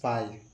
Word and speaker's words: phi: It is denoted by this phi. It is denoted by phi. How to pronounce it?